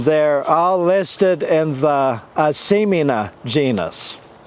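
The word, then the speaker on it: Asimina: all listed in the asemina genus semina is the botanist pronunciation of a word from uh native north american language the powhatan tribe called them asimin and another tribe i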